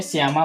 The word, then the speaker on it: श्यामा: इसके बाद है जाके आपका श्यामा, श्यामा लिख दीजिए, SHYAMA श्यामा। तो मैंने इनको पहले ही बता दिया कि SHYAMA श्यामा पहले लिख दिए थे, तो इसको बोलते हैं श्यामा।